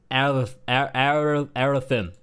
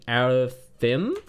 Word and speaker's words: Arathi: It is Arathin. I'm pretty sure it takes place in Arathin? Arathi, not Arathin.